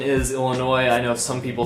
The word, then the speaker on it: Illinois: critic the crew there oh dear the correct pronunciation is Illinois I know if some people say it like illinois' is not illinois's the S is side on the end I